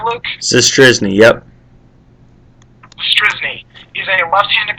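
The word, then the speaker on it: Zastryzny: In our next show tomorrow, we will have Rob Zastrinsky. No, yes. Did I pronounce it right, Luke? Zastrisny, yep.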